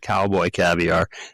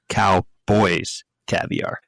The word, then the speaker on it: Cowboys Caviar: We were calling it Cowboy Caviar and it's Cowboys Caviar. Yeah, there's an S in there. I was informed that there's an S there.